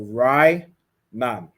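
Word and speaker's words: רענן: Green is pronounced Rainan. Okay, so you have Ra, I, Na, and Na. So Rainan. Okay.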